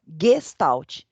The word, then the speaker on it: Gestalt: Se escreve com G, Gestalt, mas ela se pronuncia Gestalt. Essa é a forma correta de se pronunciar esta palavra.